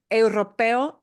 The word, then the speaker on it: europeo: So for us, getting that sound of eu is a tough sound. Europeo. Okay. Europeo. Eu. It will sound more like a W in English, won't it?